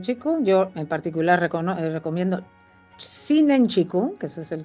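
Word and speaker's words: Zhineng: Pero como prácticas tradicionales que vengan de Occidente o de Oriente, desde luego las técnicas de Qigong, yo en particular recomiendo Shinen Qigong, que ese es el que yo practico, que me parece bárbaro, la meditación.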